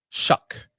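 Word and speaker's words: Shough: Shuck. Looks like show.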